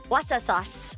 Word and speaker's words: Worcestershire: I love it, but I don't know how you pronounce it. Worcestershire sauce. Worcestershire. Worcester sauce.